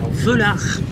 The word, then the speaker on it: Velar: La plus chère du classement, on est sur un Land Rover Velar, ou Velar, ça dépend comment vous prononcez.